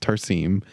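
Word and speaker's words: Tarsem: out looking into the behind the scenes so tarim which by the way I realized I was pronouncing the director's first name incorrectly his name is pronounced tarim um he realized uh he revealed to the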